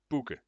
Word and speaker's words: Bugge: It is pronounced Bugge, Bugge.